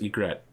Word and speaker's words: egret: factions that now, yes, egret. I apparently I'm not pronouncing it right. Egret. Egret, okay. It's like regret, but without the R.